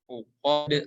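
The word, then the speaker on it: العقد: Fil uqad dan huruf dal yang berharokat sukun memiliki sifat qalqalah atau memantul. Ya. Jadi ketika membaca uqad harus dipantulin, ya, jangan sampai ditelan.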